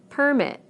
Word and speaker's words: permit: Permit, permit. Again, we stress the first syllable in the nouns and the second syllable in the verbs.